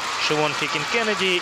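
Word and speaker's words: Siobhan Heekin-Kennedy: Спортсменка с совершенно нечитаемым именем, которое произносится как Шивон Хикин Кеннеди и Дмитрий Дунь.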